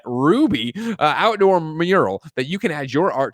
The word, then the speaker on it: RWBY: currently creating a rwby i believe they pronounce that ruby outdoor mural that you